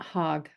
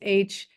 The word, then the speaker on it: Haug: And next month we have Dan Hogg from not Hogg, Haig. I never say his name right. It's Haug.